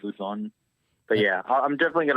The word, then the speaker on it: Luzon: Like L-O, that's how it's pronounced, Luzon.